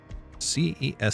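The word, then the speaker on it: Cesc: but how to pronounce C E S C. A soft C sound similar to the S in sun followed by a short E sound with an SK sound at the end.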